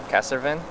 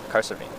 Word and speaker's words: Cahersiveen: forget because I'm reading it and I'm like, Cassavine? Cassavine? Cassavine? Carsavine. Cahersiveen.